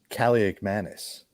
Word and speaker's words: Kaliakmanis: Kaliakmanis. Kaliakmanis? Kalikalikimaka? Cadillac, Cadillac. No, it's if you can't pronounce it, it's just the Greek Rifle.